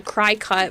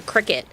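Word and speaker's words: Cricut: people call it a cry cut versus a cricket their literal mascot is a cricket tell me it's pronounced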